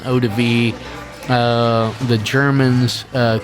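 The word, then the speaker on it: eau-de-vie: In French it's called an odiv.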